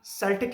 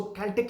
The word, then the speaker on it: Celt: सेल्टिक language, या इसको कैल्टिक language भी कहते हैं, CELT, सेल्ट या कैल्ट दोनों प्रोनाउंसिएशंस हैं इसकी। तो अगर कोई कैल्टिक या सेल्टिक की बजाय कैल्टिक या कैल्ट प्रोनाउंस करे तो आपने ये नहीं करना कि वो गलत प्रोनाउंस कर रहा है, दोनों प्रोनाउंसिएशंस चल रही हैं इसकी।